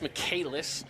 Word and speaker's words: Michaelis: It's Michaelis is how they pronounce it.